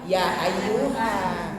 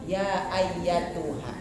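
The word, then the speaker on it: يَا أَيَّتُهَا: yang hilang karena standarnya lazinnya kita suka bacanya nya ya ayyuha begitu sering mendengarnya pun demikian tapi khususan untuk yang ini mah ya ayyatuha ada tanya jadi harus hati-hati ya nanti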